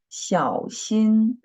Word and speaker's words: 小心: So 小心，小心 third tone and first tone, right? 小心 and notice when we mark the tone above the letter I, and the dot should be removed.